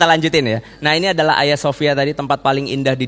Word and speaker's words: Hagia Sophia: Bacanya jangan Hagia Sophia ya, jangan ya. Itu nggak pro kalau kata Ustadz Felix ya. Karena G di tengah itu nggak dibaca. Jadi bukan Hagia tapi Hagia Sophia.